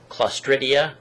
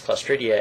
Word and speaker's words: Clostridia: there's a bacteria called, I'll see if I can pronounce this right, Clostridia, I believe it's pronounced.